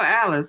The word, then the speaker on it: Alice: So, that's why call it it rhymes with Dallas.